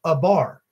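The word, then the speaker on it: עבר: 56 74 in your Strong's Concordance and it's pronounced a bar now this word has came up a couple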